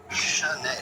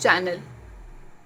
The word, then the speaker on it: Chanel: Chanel. I'll be very honest, as a kid I used to call this channel.